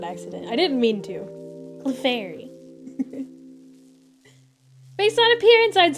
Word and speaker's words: Clefairy: I thought you pronounced it like clefery the first time. Did I? I might have. I might have said it like that on accident. I didn't mean to. Clefairy.